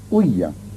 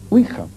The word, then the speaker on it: Ouija: Generalmente se dice ouija, pero la verdad es que oui es sí en francés y así se pronuncia, y ja es ya, que es sí en alemán.